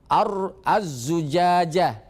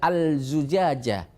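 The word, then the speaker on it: الزجاجة: dan seterusnya allailu wab azzujajah azzujajah tidak boleh dibaca alzujajah tidak boleh baca alsyamsu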